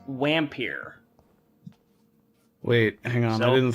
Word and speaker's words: Vampyr: example uh turns out the name of this game is actually pronounced wampir wait hang on i